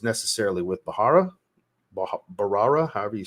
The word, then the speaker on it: Bharara: if it's necessarily with bahara barara however you say I always say it wrong I think the H is silent barara um I believe he's